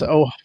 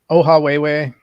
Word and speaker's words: Ohawhewhe: Emily, his channel, if you want to pronounce it again, I'll write it in the chat too. Yeah, it's Ohawhewhe, Ohawhewhe.